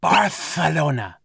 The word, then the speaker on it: Barcelona: heroes to barcelona what i think you're supposed to pronounce it barthelona oh the assailant is